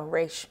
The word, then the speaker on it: Ra's: my side for too long that's how you pronounce it right oh race my bad really a pole vault everyone's got